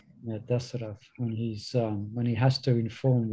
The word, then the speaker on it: Dasarath: That's really a heart-wrenching episode where Dasarath, Dasarath, did I pronounce that right? Dasarath. Yeah, Dasarath, when he has to inform Ram.